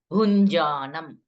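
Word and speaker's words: भुञ्जानम्: to here first pada bhunjanam inj sound okay that is inj sound nj write it in english if you are not able to pronounce properly so nj in english bhunjanam va gunanvitam this is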